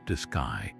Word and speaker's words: DSKY: It was continuously calculating and displaying the vehicle's altitude, vertical speed, and horizontal velocity onto a simple numerical display called the DSKY, pronounced disgu.